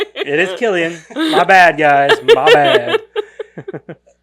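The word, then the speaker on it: Cillian: his name how to pronounce so it is pronounced Killian Murphy okay did you guys see that Steve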